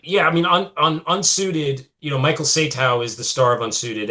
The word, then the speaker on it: Satow: Is that how you say his name? Sato? Satow. Satow.